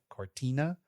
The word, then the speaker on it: Cortina: so we have Paris we have Milan Cort Cortina that's how you say it uh and then